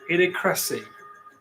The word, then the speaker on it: Idiocracy: It's not idiocracy, it's. Oh. Idiocracy. Idiocracy, that's it.